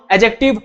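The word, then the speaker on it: adjective: एडजेक्टिव, इसमें जो डी होता है वो साइलेंट होता है, डी को नहीं पढ़ते, एडजेक्टिव नहीं बोलते।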